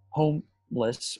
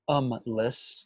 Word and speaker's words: Homme Less: Today, we'll be talking about a film entitled Homeless or Umless. It's spelled Homme and Less, referencing the word for man, in French.